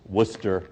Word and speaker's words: Worcester: don't have to explain to people how you pronounce the name of this case it's Worcester versus Georgia people in Massachusetts know this because